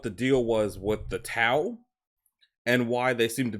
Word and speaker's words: T'au: So, the Tau Empire, pronounced Tau as in wow, also spelled Tau Empire